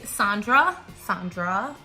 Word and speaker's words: Sandra: My name is Sandra, not Sandra, because my mom doesn't know how to pronounce Sandra.